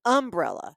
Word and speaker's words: umbrella: So the syllables that we use in the South, sometimes we put the emphasis on the first syllable instead Right. of the second. Like he says insurance and umbrella.